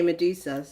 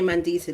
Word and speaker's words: Mandisa: So, I was saying some people some people say Medusa when they try to pronounce my name. That's crazy, isn't it? I say Mandisa, they say Medusa.